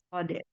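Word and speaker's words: صاد: Hari ini kita pertemuan yang ke-14 ya, itu huruf Shode. Nama aslinya bacanya Shode. Kita sebutkan Shode. Ada kol-kolahnya ya, dal ya. Shode. Tapi huruf itu sendiri tidak berkol-kolah. Kalau dia dipanggil namanya, dia bacaannya Shode.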